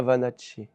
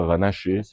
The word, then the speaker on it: Vanacci: Luca Vanacci. C'est ça. Luca Vanache. Ah ouais, beau gosse. Alors, on le dit pas comme ça en pratique, il faut dire Luca Vanache. C'est Luca Vanache, il faut prononcer.